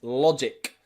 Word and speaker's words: logic: strategic strategic and magic both end in gic and nearly always in english that means that that g is pronounced ju another example here is logic logic okay la jic logic okay a really good